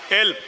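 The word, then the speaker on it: علم: बहता हो, इल्म नहीं इल्म, पानी की जगह इल्म कोई लफ्ज़ नहीं बेटा, नाराज़ ना होना। इल्म अक्सर से हरफी लफ्ज़ जो है ना उनमें जो सेकंड है ना वो साइलेंट होता है।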